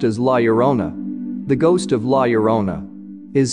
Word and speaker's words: Llorona: language Lona means Weeping Woman and it is pronounced as Lerona the ghost of Lerona is seen all over